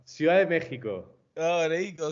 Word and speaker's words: Ciudad de México: Cuidad de Mex. Is that how they say it? No, not at all. No, Ciudad de México. Oh, there you go. Ciudad de Mexico.